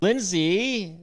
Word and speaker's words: Lynsey: Lindsay did I say that right you said it